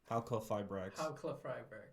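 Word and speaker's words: Halqifibrax: Halqua-Fibrax.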